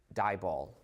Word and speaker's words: DIBAL: All of them are reduced to an aldahhide using this reagent dial rhymes with eyeball.